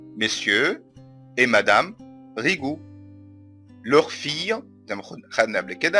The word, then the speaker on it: fille: leur fille زي ما خدنا قبل كده ان ال ILLE تنطق إي، يبقى leur fille جوزيفين.